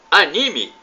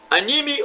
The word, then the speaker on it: anime: Você sabe o que é anime? Anime ou anime? A pronúncia pode ser anime ou anime.